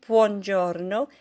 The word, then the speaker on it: buongiorno: Okay, buongiorno. See if you can roll your R's.